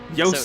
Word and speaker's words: Joost: Say toast. Toast. Toast. Say toast with a J. Joost the Toast.